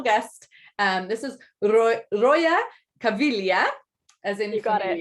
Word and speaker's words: Caviglia: a very special guest um this is roya cavillia as in you got it yeah right we just we just went over the pronunciation because i want to make sure i